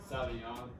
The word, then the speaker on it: Sauvignon: Nah, that's How do you say that word? Sauvignon. Cabernet Sauvignon. That one.